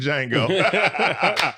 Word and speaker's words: Django: St Dennis medical also the t is silent like the D and Django thank you so much